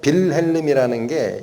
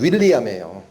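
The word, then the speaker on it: Wilhelm: 독일어 발음하고 영어 발음이 달라요. 빌헬름이라는게 영어로는 윌리엄에요. 윌리엄. W자가 독일어로는 V로 나온다고.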